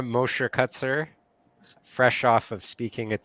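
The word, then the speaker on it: Mosher-Kuczer: Mosher-Kutzer, but everyone does.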